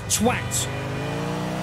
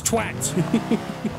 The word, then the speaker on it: twat: It's twat. As in T-W-A-T. A-T being at. You don't say art, do you? No. You say at, so it's twat.